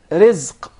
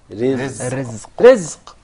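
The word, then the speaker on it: رزق: Rizq. Rizq. Rizq. Did you notice here the ra is very soft and light? Yeah, because it has a kasra. So say ri. Versus rahim. Yes. Yeah. Rizq.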